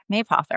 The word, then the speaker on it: Mapother: life, they're like, "So, how do you say your last name anyway? It's like Yeah. Yeah. May author.